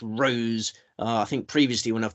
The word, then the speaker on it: Rose: It's pronounced Rose. I think previously when I've tipped her, I've gone with Rosé, just showing a sort of alcoholic's passion for for a drink.